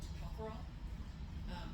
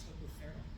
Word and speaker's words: tocopherol: Its technical term is called tocopherol. It's also can be pronounced tocopherol.